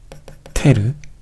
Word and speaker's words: ter: 세 번째는 뭐냐면 바로 비스, 테르, 쿼테르 라고 읽는 것인데요.